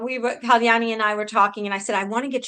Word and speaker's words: Kyani: the best way possible and today I have Kyani Pardesi.